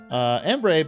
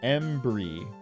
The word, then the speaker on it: Embry: Embray, back at it again with the long-running jokes and some boys working out. I'm afraid to tell you, but you've been pronouncing my name wrong. It's pronounced Embry.